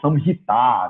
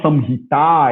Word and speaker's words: Samhita: assim, errado, quando fala Samhita, né, as pessoas pronunciam Samhita. No final da palavra Samhita, você tem um A longo. Então, óbvio que o natural seria pronunciar Charaka Samhita.